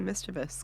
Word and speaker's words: mischievous: talk of like, well, you gotta say mischievous because it's how it's pronounced.